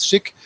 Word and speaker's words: SCHC: So SCHC is pronounced SCHIC.